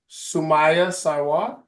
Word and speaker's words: Sumaiya Sarwar: Today on Champion Me Zoom, we have, I'm going to make sure I say her name correctly, Sumaiya Sarwar.